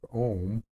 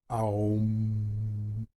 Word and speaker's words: Om: we'll start with the most basic ohm or it could be pronounced um or own you got to feel